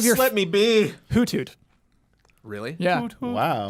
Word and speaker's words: Hoothoot: Hoothoot. Really? Yeah. Wow. It's almost always Huber. That is not how you pronounce it.